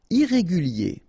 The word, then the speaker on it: irrégulier: Irrégulier. Okay, remember IER at the end of your word here, it will be IE, okay?